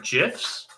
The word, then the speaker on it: GIF: bunch of different uh gifs or gifs i learned is the correct way to pronounce it uh what you could